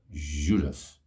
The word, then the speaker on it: Judas: is called uh uh osus Judas Judas is how you say and anyway the Brazilian J is a fun one yeah so an Antonio